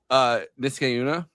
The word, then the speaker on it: Niskayuna: So that spring, Anne and the others rejoin William in the oh my God, Nisakayo? I think is that how you pronounce it? Nick wow. Niskayuna.